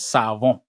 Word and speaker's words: savon: The actual French pronunciation is SaVon.